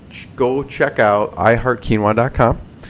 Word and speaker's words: keenwah: check out I heart quinoa calm like I said spelled phonetically k een wuah dot-com sir I always